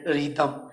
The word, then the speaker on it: rhythm: का पैटर्न है ये रिदम। इसमें रिदम लिखने का, रिदम इसमें आपको क्यों बताया जा रहा है, यहाँ पर एच साइलेंट है, रिदम, रिदम, रिदम का हिंदी